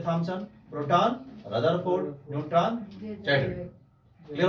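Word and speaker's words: Rutherford: रदरफोर्ड। कभी कभी रुदरफोर्ड भी लोग पढ़ देते हैं, तो रदरफोर्ड का चाहे रुदरफोर्ड, स्पेलिंग रुदरफोर्ड की है तो आप पढ़ सकते हो रुदरफोर्ड।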